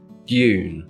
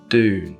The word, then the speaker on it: dune: So we say words like dune (/djuːn/)) not dune (/duːn/) or computer (/kəmˈpjuːtə/) not computer (/kəmˈpuːtə/).